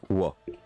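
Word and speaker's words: は: Donc note, hein, la particule ha se prononce wa.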